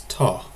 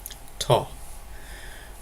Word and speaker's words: to: To avoid confusion, you can always pronounce this as ta. Ta.